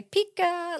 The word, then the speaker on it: Pekka: But it turns out there are no rules. It's a made-up name. Yep. It starts with P, and you could say Pika, like Pika, like Pika.